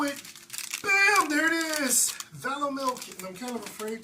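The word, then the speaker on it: Valomilk: V-A-L-O-R. No R. It's Valo milk, not Valor. Valor would be like, but Valo milk.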